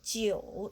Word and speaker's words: 九: Okay, how to pronounce this? Because this one we have the word jar. And this one, just like this, we pronounce leo. And 九 pronounce this, and just this part plus this part, and the 九, the third tongue. Third tongue, just we sing a song, just like so, fa, mi, re, do, re, mi, fa, longer, and change pronunciation.